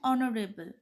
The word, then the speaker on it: honorable: Words such as our and honorable are pronounced as our and honorable. Though the first letter of these words is the consonant H, which is a silent alphabet.